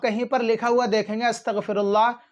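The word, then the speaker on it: أستغفر الله: हैं तो नाजरीन आपको नून को हटाना है नून को साइलेंट करना है मीम को पढ़ना है आपको इतना पढ़ना है फिर इंशा अल्लाह अल्लाह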